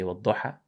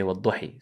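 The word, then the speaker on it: وَٱلضُّحَىٰ: Like for example, you say Wadduha and you say Wadduhi.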